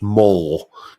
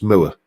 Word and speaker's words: Moore: I always used to get people telling me that it's pronounced Moore, Gary Moore. No, it's Moore, as in, Yorkshire Moors.